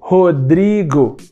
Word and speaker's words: Rodrigo: Por exemplo, meu nome é Rodrigo. Dri é a sílaba tônica, a sílaba forte. O schwa nunca estaria nessa sílaba. Ele poderia estar na sílaba ro ou na sílaba go. Rodrigo.